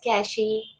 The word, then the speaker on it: cache: then what is cash there are various pronunciation for this cash some pronounce it as cashy some cash so i'm you can pronounce it in your way so a cache memory